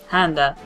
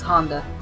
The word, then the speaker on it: Handa: Handa. Yep, we're chatting with our friends back in the hospital. Who everyone kept mispronouncing as Honda.